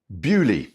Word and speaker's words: Beaulieu: Beaulieu, French origins, British pronunciation.